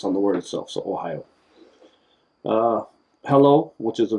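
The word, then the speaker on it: おはよう: first one it's simple you say good morning like the state ohio it's the same pronunciation spelt a little different but if you just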